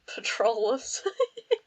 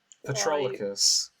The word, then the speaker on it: Patroclus: And Patrolus, however you pronounce it. Patrolus. Well, what is his actual name? It's considering I can't pronounce it. Patroclus.